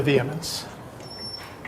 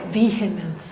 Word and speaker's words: vehemence: parking regulations with a vehemence. Vehemence. Vehemence. The H is silent.